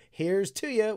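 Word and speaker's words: Heerz tooya: Here's Tuya was first described by Paul Marsh in 1993. And I looked it up. That's exactly how it's supposed to be pronounced.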